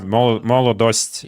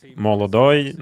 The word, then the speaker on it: Molodost: Actually, Molodost is the right pronunciation. Not like Molodoi, not like Molodoct. Is the right one is Molodost.